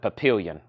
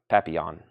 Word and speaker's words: Papillon: Yeah, I think the first time I said it, I said papillion. Papillion. Papillon. Which, if you didn't know how to say it, that's what it looks like.